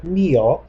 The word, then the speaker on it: mío: Remember that mío has an accent on the I.